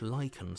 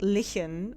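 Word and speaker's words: lichen: seams of the walls that's how you pronounce that word that's one of these words that I have only ever seen written in like books and stuff or games and I was always like lien or Li I don't know apparently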